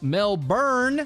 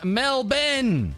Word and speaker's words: Melbourne: in our last video is to be pronounced Mel bur and even Mel Ben virtual rapity sending out